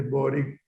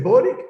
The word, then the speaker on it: Boric: ¿Cómo se dice? ¿Boric o Boric? Porque he escuchado las versiones... Las dos, sí. Las dos parece, nosotros le decimos más Boric que Boric. Sí, Boric. Yo al escucharte me imaginaba